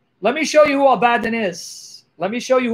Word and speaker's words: Abaddon: a favor click on this link abadan yep abaddon you don't need to read hebrew thank you